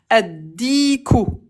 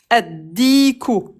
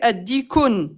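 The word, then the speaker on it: الديك: T'as fait addikun. T'as dit le un coq. Oui. Le petit bâton. Pourquoi addik? C'est une autre règle en arabe. C'est que quand on s'arrête, on prononce pas la dernière voyelle.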